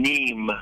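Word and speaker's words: Nîmes: 30 years i've played a roman amphitheater in neem france that's spelled n-i-m-e-s and uh two two out of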